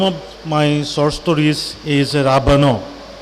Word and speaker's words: Ravan: The name of my short stories is Ravana. In Assamese it's pronounced as Ravan.